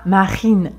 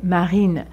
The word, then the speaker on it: Marine: Marine, c'est très léger. Marine. Il y a une petite vibration, mais elle est légère. On ne dit pas Marine, mais Marine.